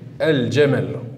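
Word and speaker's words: الجمل: On l'écrit et on le prononce el-jamel, el-jamel. Et sur la lettre qui suit, la lettre jim, il y a une fatha. Donc on voit bien que c'est une lettre lunaire.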